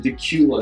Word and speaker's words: Dacula: well next we go east side aquinet to Dacula that's how this is pronounced not daculate the cule so Dacula is coming in here